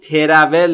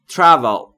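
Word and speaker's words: travel: یعنی سفر کردن تلفظش رو دقت بکنید ترول نیست تراول به این دلیل که بین تی و آر شما صدایی رو مشاهده نمیفرمایید و ما هم مجاز نیستیم صدایی رو اضافه بکنیم.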